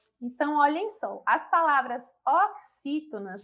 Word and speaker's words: oxítona: Então, a palavra oxítona se separa dessa forma: O, aí tem a palavra quis, né? O X aí com esse som. To, na.